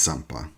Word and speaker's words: Zampa: Do we pronounce it as a Z or an S in Italian? I believe it's Zampa.